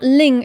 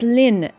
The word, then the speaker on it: Lynn: some tips see if it's not Ling it's Lynn every single bloody name